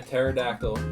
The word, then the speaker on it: pterodactyl: Why can't you hear a pterodactyl go to the bathroom? Why not? Because the P is silent.